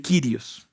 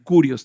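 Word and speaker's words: κύριος: El Kirios en griego, el curios también cabe esa forma de pronunciarlo.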